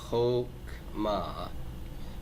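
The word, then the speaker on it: חכמה: Is it ha or ho? Ho, right? Chokmah. So that shiva is silent.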